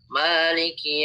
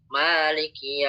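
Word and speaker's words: مالك: Bacanya Maliki Yaumiddin ya. Maliki Yaumiddin. Itu dibaca panjang.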